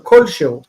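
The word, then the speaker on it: כלשהו: Like so, this word is kol shehu, which means anything. Kol she asher and hu with like who, like it is. So kol shehu, the stress is actually here.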